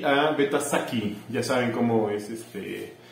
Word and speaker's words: Sasi: Y a Beta Saki, ya saben cómo es se escribe Sasi, pero en maya se pronuncia Saki.